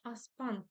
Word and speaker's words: аспан: Жазда жельсіз, аспан көбінесе бұлтсыз, ашық болады. Аспан, ударение на второй слог, точнее на последний слог, дальше.